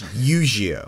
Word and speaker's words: Eugeo: is the first season eugeo like yugioh with a different pronunciation it's e you i believe but yeah it's eugeo okay um who is